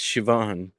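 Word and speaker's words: Siobhan: know like silent letters the Irish name Shivan it's spelled Cobian yeah but it's Shivan welcome back Joe you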